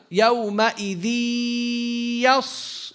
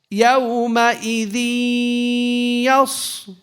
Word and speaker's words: يومئذ يص: Because the ghunna, when you give it the nasalization, the ya, it takes two yas.